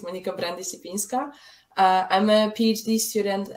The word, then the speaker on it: Monika Brandic-Lipinska: you so much for having me uh you pronounced my name correctly it's Monica brandyshipinska uh I'm a PhD student at Newcastle University